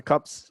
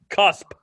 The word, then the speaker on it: cusp: Did I say it right? Yep. No, no, he didn't. You said it about as right as your Arizona center. Cusp, you idiot.